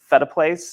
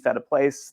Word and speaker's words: Phetteplace: Um, so I usually tell people, you know, feta cheese, feta place, that's how you can remember how to pronounce that name.